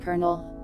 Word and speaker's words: colonel: letters for fun like colonel but I think that one is because of the French anyways I be run